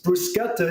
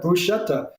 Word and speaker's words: bruschetta: new flavors new pronunciations bruschetta is the Italian pronunciation but Brits maybe some Aussies Americans say uh bruschetta even if that is